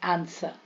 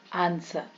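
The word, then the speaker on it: answer: जाएगा रैप रंग रंग यदि एस के बाद डब्लू है तो प्राय डब्लू साइलेंट हो जाता है एस के बाद आंसर आंसर है ना स्वर्ड स्वर्ड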